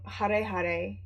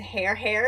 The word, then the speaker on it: Hare Hare: it was announced and I pronounced it hair hair and I was like no I know that's not it I know that's not it it's not hair hair I thought I had